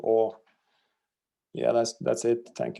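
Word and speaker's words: Å: in our alphabet and one of them is an a with a dot over and that's pronounced or and this town is called or yeah that's that's it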